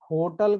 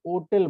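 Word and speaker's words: hotel: अब कुछ ऐसे लोग हैं जो कि होटल को होटल ना बोल के क्या बोलते हैं, ओटल बोलते हैं।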